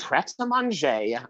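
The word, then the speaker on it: Prêt à Manger: It's pret a manger, not pret a manger.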